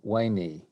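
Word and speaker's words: veni: yeah I thought that if you were speaking classical Latin today v-e-n-i would be wayni oh it is yeah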